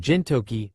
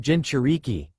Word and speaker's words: Jinchuriki: You said something about Jintoki, or something. It's pronounced Jinchuriki.